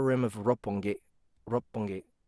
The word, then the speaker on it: Roppongi: of rope one gate Roppongi Rob punky when there's a double consonant when there's a double